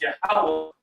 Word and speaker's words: Yahweh: So that pronunciation is Yahweh.